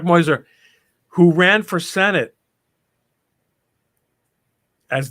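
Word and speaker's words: Meuser: argument in passadena and Mark Muer moiser this is actually how his name is pronounced Mark moiser who ran for Senate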